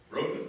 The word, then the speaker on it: Broughton: Paul Broughton. Did I say it right, Paul? Broughton, there you go.